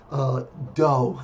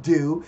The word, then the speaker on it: do: start with the word dough that game is pronounced dough okay not do not Taekwon do but I think I'd like